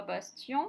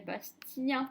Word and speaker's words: Bastien: On ne dit pas Bastien, mais Bastien. Le EN devient 1 et non pas en.